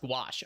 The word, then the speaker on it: gouache: It is also pronounced It's pronounced Is it gouache? It's pronounced gouache.